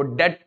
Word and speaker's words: debt: में भी कहा था इसको डेट बोलना डेप्थ मत बोलना this is नॉट बेड डेप्थ इट इज बेड डेट बी is silent okay so now what